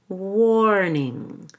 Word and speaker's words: warning: And warning, make sure you actually have an ER sound in there. So we'll do it with a long O and an ER. War, warning.